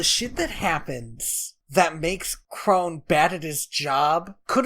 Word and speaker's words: Kron: I think it's Crone. It's Crone, but it's spelled Kron.